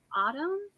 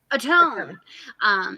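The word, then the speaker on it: Ottone: Autumn? How do you say it? Atone.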